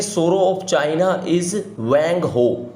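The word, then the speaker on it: Hwang Ho: 26 देखते हैं, सोरो ऑफ चाइना इज वैंग हो। ये एच साइलेंट होता है ऐसे चाइनीज वर्ड्स में, तो बिहार में बताया गया।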